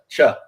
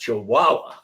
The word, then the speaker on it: chihuahua: know and he's like so what is a chawa and he's like no it's pronounced chihuaha and they're like and what do you mean